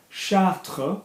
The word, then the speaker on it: Chartres: So we've got à Chartres, we don't pronounce the S.